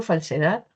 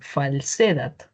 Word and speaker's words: falsedad: ideal sería que pruebe cómo sonaría en otras sílabas, ¿no? Entonces, de repente yo digo falsedad.